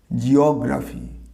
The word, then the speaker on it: geography: এটা হচ্ছে জিওগ্রাফি। উচ্চারণ হবে অকার একটা আসবে, জিও না, জিওগ্রাফি। এই সেন্টেন্স হিসেবে বলতে পারি জিওগ্রাফি ইজ my favourite subject.